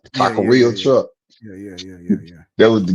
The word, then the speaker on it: taqueria: But she pronounced it Takira. My wife would do. No, she didn't. I'm trying to. My Could you wife, nigga, imagine? that is Taqueria.